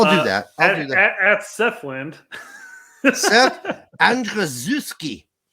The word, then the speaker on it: Andrzejewski: Seth Andrzejewski. That's how you say that.